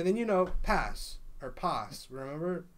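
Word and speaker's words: Paz: Oh, okay, then you know Pass or Pass. Remember? Right. Okay, I don't know how to say her name. Yeah, I don't either. Pass. P-A-Z. Pass. Not Puss. Pop.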